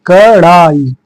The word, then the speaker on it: कड़ाई: इसने क्या गलत है यहां पे ड लिखा हुआ है इसे ड पढ़ते हैं ड़ पढ़ने के लिए नीचे बिंदी लगाना पड़ता है ठीक है उच्चारण में आप पढ़ेंगे इसको ड पढ़ेंगे इसको ड़ पढ़ेंगे कड़ाई कडाई नहीं ड नहीं है कड़ाई ठीक है इसी तरह चौथा